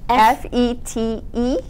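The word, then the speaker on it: fete: How do you spell that? Oh gosh. F-E-T-E.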